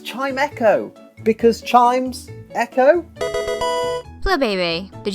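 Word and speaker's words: Chimecho: for years and I feel stupid it's not chimco it's chimo because Chimes Echo FL did you know that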